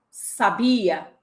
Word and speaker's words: sabia: Você sabia que a palavra sabia é verbo? Mas se eu acentuar a primeira sílaba, sábia, vira adjetivo. Mas se eu acentuar a última sílaba, sabiá, vira substantivo? E aí, você já consegue